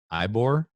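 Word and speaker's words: Ybor: a corner in eibor ebory jeez you just said it to me if it wasn't spelled with a y scott i wouldn't have any problem so it could be yeah okay it's e-bor right so anyway so i'm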